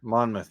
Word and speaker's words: Monmouth: Georgia State Purdue and we in non-conference with Monmouth is that how you say it Monmouth yes that's that's that was my guess that